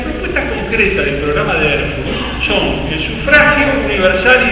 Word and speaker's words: Erfurt: Si ustedes leen el programa de Erfurt, lo buscan en internet, Erfurt se escribe como suena, ¿no? ERFURT.